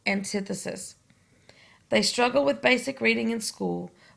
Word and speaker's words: antithesis: I know it looks like antithesis, but we pronounce it as antithesis.